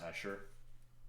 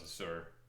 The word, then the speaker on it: Azure: That's how you pronounce Asher? I thought it was a Sur.